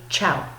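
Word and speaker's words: tchau: how to say goodbye it sounds just like the Italian form of goodbye but it's spelled very differently you say ciao okay and an Italian at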